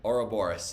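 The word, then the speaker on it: Ouroboros: me if I uh butchered the pronunciation but Aro boros is that how you pronounce it oh yeah or Boris okay Aura Boris and apologies um but what if no one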